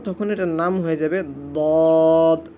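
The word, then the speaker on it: ضاد: এই সদের উপর যখন আমরা একটি নক্তা দিয়ে দিব তখন এটার নাম হয়ে যাবে দদ। অনেকে কিন্তু দোয়াত বলি, দোয়াত হবে না, সকলে উচ্চারণ করুন আমার সাথে সাথে, দদ, দদ, দোয়াত বলবেন না, দদ, দদ।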